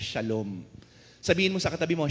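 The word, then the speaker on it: שלום: Pero ang binigyan diin natin dito, yung salitang Hebreo na ang ibig sabihin ay, o kung bigkasin ay shalom.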